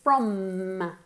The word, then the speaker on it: from: Cuidado con la pronunciación de from, es con una M fuerte, from, really exaggerated, from, okay?